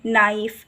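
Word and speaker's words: knife: हैं वो आप करा सकते हैं नो नी नाइफ इस तरह से ताकि ये बच्चों को ये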